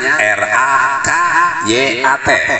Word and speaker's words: rakyat: bapak maklum maklum baso padahal ditulisnya r a k y a t dibacanya rakyat Bu bukan rakyat ya